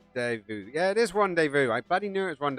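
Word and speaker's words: rendezvous: laboratory area Rand de Vu yeah it is randev Vu I gladly knew it was rev Vu my my my pronunciation or my pronunciation my reading skills are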